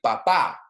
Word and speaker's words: papá: For example, like I was just saying, el papa, el papá. El papá has an accent on the final A, P-A-P-A with an accent.